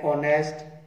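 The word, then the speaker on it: honest: एन ऑनेस्ट ये vowel sound है, एच इसमें साइलेंट है, ये वोवल साउंड है।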